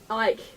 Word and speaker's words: Icke: How do you say your last name? Ike. Ike. Forget Okay, the C.